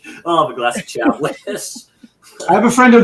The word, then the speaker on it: Chablis: Chagpain, Chagpain or Chablis as it's actually called. Chablis. Yeah, Chablis. I'll have a glass of Chablis.